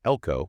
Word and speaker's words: Elcho: Stretching way up near Elcho, which is pronounced Elko-dough.